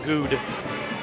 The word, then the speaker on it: Good: Carter Lance, who is my pronunciation guide tonight, telling me it is Jeremiah Good.